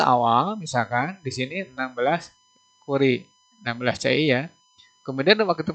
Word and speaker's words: Curie: CI itu dibacanya jangan CI ya. Nah, kenapa saya ngomong CI? Supaya nanti saya menjelaskan. CI itu Curie ya. Curie.